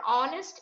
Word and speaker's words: honest: that is for honest though the spelling begins with h that is consonant but the pronunciation or the sound begins with that of the vowel and so we have